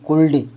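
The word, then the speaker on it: could: सी ओ यू एल डी कुल्ड कि L silent है।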